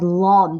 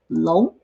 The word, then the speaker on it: 龙: The pinyin on top of that kind of looks like the English word long, but I know, and the people have the tendency to pronounce it as long, but it is in fact 龙.